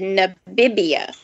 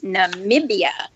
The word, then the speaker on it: Namibia: jeopardy clue and the um the contestant said nabibia and i'm like that's not right that's not right they didn't pronounce it correctly and they came back after the commercial and it said it's namibia and i knew how to spell it because